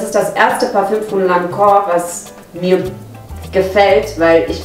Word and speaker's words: Lancôme: Jetzt habe ich ein Parfüm von Lancôme, Trésor. Eigentlich wird das Lancôme, Trésor. So wird das eigentlich ausgesprochen, ne?